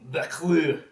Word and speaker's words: Buclique: So enter our hero, young Beclou. I have Bless you. ruined my YouTube search history pronouncing a lot of these names coming up. But it's spelled Buclique, pronounced Beclou.